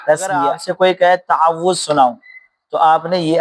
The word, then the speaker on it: تعوذ: صحیح مخرج پڑھنا ہے، صحیح انداز میں صحیح لہجے کے ساتھ پڑھنا ہے۔ تعوض تعوض اور تسمیہ کیسے سکھائیں؟ تو تعوذ کہتے ہیں اعوذ باللہ من الشیطان الرجیم، اس کو کیا کہتے ہیں؟